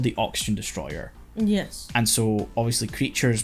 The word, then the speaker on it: Destoroyah: state by the way his name isn't Destroyer like I know you're not saying Destroyer but it sounds like Destroyer if you don't know it's Destroyer yeah Destroyer it's just the Japanese pronunciation of Destroyer yeah that's the official